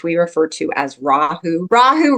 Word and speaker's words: Rahu: refer to as rahu rahu rhymes with Yahoo but it means the